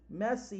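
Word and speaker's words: mese: see millimeters per messi messi is how you say month in italian messi so millimeters per month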